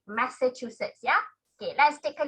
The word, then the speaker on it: Massachusetts: often harbour is okay so let's hear the correct pronunciation thank you very much indy your answer is correct okay thank you adam massachusetts that's how you pronounce so it you learn a new thing a new word massachusetts okay massachusetts that's it that's the name that's how you pronounce it massachusetts yeah okay let's